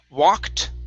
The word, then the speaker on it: walked: is okay um okay walked okay ed ending instead of walking it's walked with the t walked okay very good